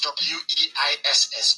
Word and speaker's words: Weiss: Weiss spells W-E-I-S-S, please. Michael Weiss. That's how you pronounce it, because in German, in Germanic language, W is pronounced as V, like it's Volkswagen.